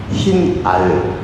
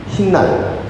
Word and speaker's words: 흰알: 이들은 전통 제주방언에서 복사 현상을 겪어서 흰날, 술안주로 발음됩니다. 흰알 술안주가 아니고요. 흰날 술안주로 발음이 됩니다.